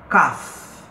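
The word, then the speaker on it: כ: Kaf. Kaf equivale ao nosso K, né?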